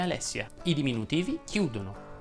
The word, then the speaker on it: Alessia: Lucrezia invece si pronuncia con la E aperta, come Alessia.